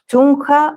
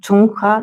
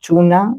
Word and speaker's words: Chungha: I have Ateez, I have Illit, I have Itzy, I have Sserafim, Hwasa, Taeyeon, Chungha, I believe it's pronounced Chungha, not Chuna, Chungha, Babymonster, Jaejoong, Kiikii, and BTS Hobi, BTS J-hope.